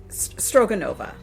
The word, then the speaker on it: Strogonoff: Okay, this is a woman, this is how her name is pronounced, Baroness Elisabeth Alexandrovna Strogonoff.